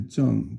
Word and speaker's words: 政: And then you have this one character here, which is called the to tap radical, and that's 正, fourth tone.